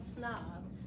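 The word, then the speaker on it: Psnob: So I started a company called Snob. It's spelled P-S-N-O-B.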